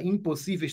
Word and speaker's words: impossíveis: se fez última penúltima a palavra impossíveis tem a penúltima sílaba como sílaba tônica não antepenúltima a palavra impossíveis é